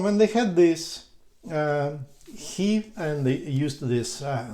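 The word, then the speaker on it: ひ: wow it's so easy you write you read it in japanese way he and it's so wonderful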